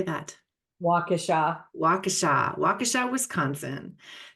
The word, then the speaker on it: Waukesha: I can't pronounce the city name. How do you say that? Waukesha.